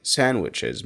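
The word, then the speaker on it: sandwiches: في كلمات زيارتartوش كلمه ساندوشز مش بقولها اي نطق تاني بقولها ساندوشز ساندوشز سانوتشز ساندوتشز ساندوتشز فهي صوت الدي مش بقوله كمان في صوت السي اتش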